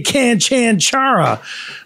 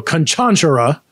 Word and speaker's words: Canchanchara: Now I looked at it, I wanted to say Canchanchara, but it's Cuban, and when there's accent in the middle syllable, I think it means you emphasize the middle syllable. So Canchanchara.